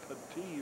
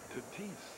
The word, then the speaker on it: Tatis: Just put the S on it and you got it. Tatis.